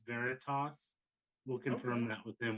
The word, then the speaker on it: Veritas: before I screw up your band name yeah Veritas all right because I was definitely pronouncing it wrong to start with so I